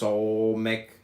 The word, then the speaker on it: Samekh: Samekh, pronounced Solmek, transcribed as S, the number 60, meaning props support the intelligence of probation or trial.